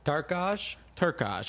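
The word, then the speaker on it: Turkalj: Turkaj.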